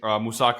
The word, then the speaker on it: moussaka: Moussaka, obviously, or moussaka, how it's properly pronounced.